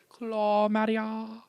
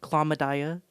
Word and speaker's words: Claw Madia: it's a little inappropriate she likes to Mis she likes to mispronounce my name call me cladia um I like to